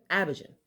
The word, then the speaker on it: Abidjan: I found out how to say it, so it's Abidjan. There you go. I think. I hope.